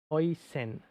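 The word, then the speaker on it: Huijsen: Bournemouth defender pronunciation Hoysen. Hoysen.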